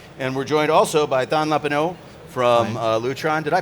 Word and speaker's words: Thanh Lepaux: And we're joined also by Thanh Lepaux from Lutron. Did I pronounce that correctly, I hope?